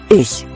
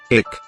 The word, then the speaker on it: ich: Please notice that it doesn't sound like ich. I saw a mouse. It has a softer ending, like letting the air out of a tire.